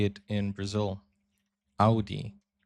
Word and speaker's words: Audi: Most Americans that I know pronounce it like I just said it. Audi. In German, we say Audi.